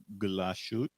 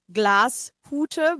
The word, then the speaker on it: Glashütte: Oh, Please pronounce Glashut. so Glashütte, but I think you forgot the 2 dots, Glashütte, which means it's a cabin made out of glass.